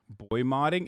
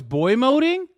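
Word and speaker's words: boymoding: i i forget sometimes boy modding isn't that how you say it oh it's boy moding wait doesn't it sound cooler if you say boy modding though like you're modding like you're modifying that's what i thought that's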